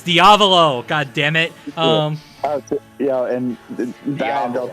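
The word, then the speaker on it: Diavolo: always bother me is they call him diolo I'm like oh my God it's like that's it's diavo godamn it um yeah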